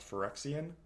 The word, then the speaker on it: Phyrexian: a fur axiom card which we know for xeo is pronounced phyrexian so maybe it's just